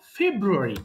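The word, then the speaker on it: February: ওকে, এবার আসি দেখো ফেব্রুয়ারি, একইভাবে সেম ফেব্রুয়ারি, ফেব্রুয়ারি, ফেব, এই যে ফেব্রুয়ারি, তো আরটা কিন্তু অত বড় হবে না, ফেব্রুয়ারি, ফেব্রুয়ারি, ফেব্রুয়ারি বানানটা ভুলে গেল না।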